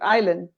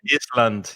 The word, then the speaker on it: island: the letter s or like island the word island yeah sometimes i hear iceland yeah it's ireland yeah yeah